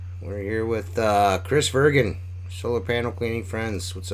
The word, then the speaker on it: Vergin: and a lot of people mispronounce my last name and I'm gonna clarify that because my last name is actually virgin which might uh clarify